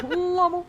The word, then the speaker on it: LOML: Yeah, Lommel. That's how I always pronounce it.